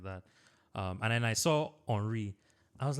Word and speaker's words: Henry: I was fascinated by like Henry, but it's pronounced Henry. I was like, who is this guy?